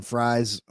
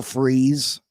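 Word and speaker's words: Fries: big names will freeze I was saying Fri that's how it looks like it's pronounced will freeze I think we need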